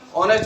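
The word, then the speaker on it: honest: तो एक और बात का ध्यान रखना, यहाँ एक एच आया वो साइलेंट है, ये मैंने ए एन का प्रयोग क्यों कहा? यहाँ एच क्या रहा है? साइलेंट आ रहा है। तो अपन ए एन का प्रयोग बच्चों ए एन और दा का प्रयोग करते हैं ना आर्टिकल का। आर्टिकल में क्या याद रखना है कि ये एच है, इसमें साइलेंट है, तो ऑनेस्ट इतना ही पढ़ा जा रहा है।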